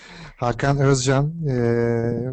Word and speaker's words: Hakan Özkan: My name is Hakan Özcan, but you are very close.